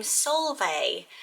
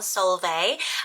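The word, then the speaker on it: Solveig: have is the name solvay so if you heard this name before it's a bit different because it's a harder one to pronounce from seeing it written down solve a um it's scandinavian roots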